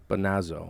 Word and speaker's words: Bonazzo: your last name how do you think it's pronounced bonazzo very good hey in your first try very